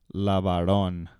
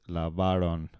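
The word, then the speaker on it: lavaron: Jose LeBaron all right a lot of times people want to put the accent on the last part of that LeBaron but it's it's it's not on the last syllable it's on the second-to-last certain it's not Lavar on its LeBaron all right so here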